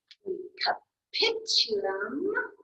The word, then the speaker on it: capitulum: how to pronounce them, but capitulum, you put the emphasis on that middle or that second syllable, and it's the same for the olecranon process.